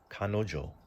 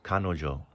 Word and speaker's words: 彼女: This right here is pronounced shimon. Shimon is your fingerprint. Kanojo.